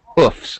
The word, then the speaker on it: hoofs: and I might have they have hoofs or Hooves you can actually say either scarf scarves Warf Wares